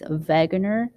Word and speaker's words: Wegener: This was proposed by German meteorologist Alfred Wegener. Here's a picture of him. And since his name is German, the W, is pronounced with a V sound. So it's Wegener.